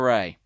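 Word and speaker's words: Wray: mm-hmm because he's been testifying not it Christopher ray no I'm not joking well my name it's spelt it's felt the W o WR a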